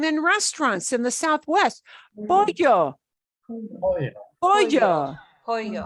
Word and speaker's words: pollo: Pollo, Oh, yeah. pollo. pollo, Right? It's not polo.